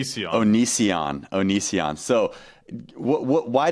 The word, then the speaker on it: Onision: is the O onion is that how you pronounce it onion Onision Onision so what what why did you want